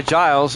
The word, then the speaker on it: Giles: the as number3 it is pronounced Giles I was listening to